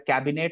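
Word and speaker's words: Kabinett: The first one is a cabinet, not cabinet, it's cabinet. So cabinet is when the wine grows in the French vineyard. The people over there used to store this wine in their cabinet or almari or cupboards.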